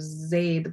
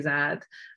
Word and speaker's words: Zaid: And Pakistanis tend to pronounce Arabic names differently. Like we, instead of Zaid, we'll say Zad, or, you know, just instead of Zainab, we'll say Zanab. So we sort of make